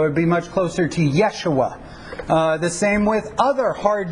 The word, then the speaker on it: Yeshua: Y sound so it'd be much closer to Yeshua the same with other hard J sounds especially